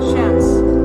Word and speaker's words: Shans: The pronunciation of Shans is the same as Shans. Like chance, but also with a sh at the end, at the start. Shans.